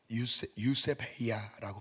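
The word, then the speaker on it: εὐσέβεια: 헬라어로 유세베이아라고 발음을 합니다.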